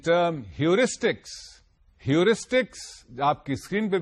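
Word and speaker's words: heuristic: general strategy of problem solving are called ह्यूरिस्टिक spelling देख लीजिए और इसका प्रोनंसिएशन भी समझ लीजिए ह्यूरिस्टिक एच ई यू आर ए एस टी आई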